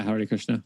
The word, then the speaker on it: Hare Krishna: How do I pronounce it? Is it Hare Krishna? Yeah, Hare Krishna.